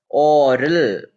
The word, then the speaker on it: aural: voice made an amazing aural or both are pronounced as oral so oral impression what